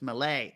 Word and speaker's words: Melee: You got to know it's Malay. Yeah, but to be fair, MELEE. Who is thinking melee? There's an accent on the second E. Like it's like fiance.